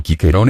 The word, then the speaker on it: Cicero: a propósito del egere el nombre de cicerón cicerón en pronunciado quiquerón en latín clásico tuvo suertes diversas en